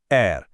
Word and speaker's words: R: आवाज गले के पिछले हिस्से से आती है, एर।